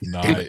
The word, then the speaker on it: Nye: But is that how it's actually pronounced? Yes. Bill Nye.